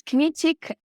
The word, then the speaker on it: Kmiecik: polish to my standing it's a bit tricky to pronounce it's kinetic I don't live in